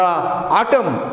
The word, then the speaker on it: autumn: In the autumn, AUTUMN, this is the name of season, here N is silent.